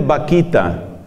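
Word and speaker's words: Bakhita: Hay una mujer, una hermosa africana, cuyo nombre se escribe con B grande, pero suena exactamente Vaquita.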